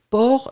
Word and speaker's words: porc: le port loving a fait attention port c'est avec un c d'accord p o r c'est donc on art on a le port oui donc c'est ça ces finales on le prononce pas un mais on doit